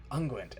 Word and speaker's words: unguent: ointment the happenstance oil mystic unguent anguint i still can't get over the fact that's how that's pronounced uh i'll only ever